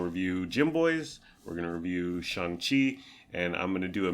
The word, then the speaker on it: Shang-Chi: Yeah, Shang-Chi. Not Shang-Chi. Yeah, that's how racist people pronounce it.